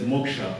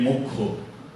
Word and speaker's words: moksha: According to spelling, we pronounce it as moksha, although it should be actually mokho.